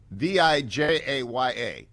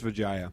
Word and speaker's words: Vijaya: There's a new sheriff in town, and the new sheriff is, again, her name is Vijaya. Pronunciation check, Generalissimo. I would say it's Vijaya. Vijaya.